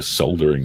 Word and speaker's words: soldering: shit shut with a soldering iron. That's fucked. That's right. Flamethrower, that's what they'll need. It's done gone rotten. Hot coil to do it. just causterize it. Hayden, the L is silent there, buddy.